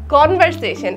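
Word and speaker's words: conversation: নিয়ে আর পারি না ইটস নট কনভার্সেটিভ কনভার্সেশন একেতেও প্রোনাউন্সিয়েশন হয় নাই আরেকের তো ওয়ার্ডটাও হয় নাই কনভার্সেশন ইজ বেসিক্যালি কথাবার্তা সি ও এন বি ই আর এস এ টি আই ও এন কনভার্স নট কনভার্সেটিভ আর অন্য কিছুও না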